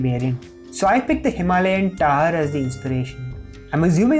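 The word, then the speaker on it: Himalayan tahr: for the Indian variant, so I picked the Himalayan Tar as the inspiration. I'm assuming that's a correct pronunciation? Let me check. Himalayan tar.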